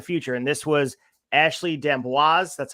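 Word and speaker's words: D'Amboise: shot of the future and this was Ashley denboise that's how you pronounce her name I looked it up before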